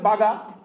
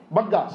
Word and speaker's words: Bagga: Tejinder Baga? Who is he? What is his name? Bagga, sorry. Bengali pronunciation, Bengali you are that time.